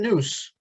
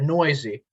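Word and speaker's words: Neuse: Sheldon Noose, or Noisy, I know really it's pronounced, played 13 games at second base this year.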